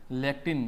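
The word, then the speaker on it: लेक्टिन: रख लेना abrin एंड्रिसिन लैक्टिन lake क की तरह प्रोनाउंसिएशन है तो कॉनकरिन ए टर्पिनोइड्स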